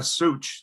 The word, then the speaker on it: Zuch: Is it Zuch? Yeah, Such. The Z is silent, so Such.